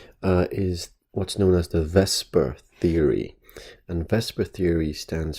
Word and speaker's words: VSEPR: molecules and chemistry is what's known as the vesper theory and vesper theory stands for the valence shell electron pair repulsion theory so vs epr even though it's pronounced vesper okay and this theory is based on uh